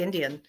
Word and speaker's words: NDN: Indian way comedy and spelled n d ndn which I like that spelling h i I did a show last week and they were having a hard time pronouncing it I finally had it just you can just say Indian and they were like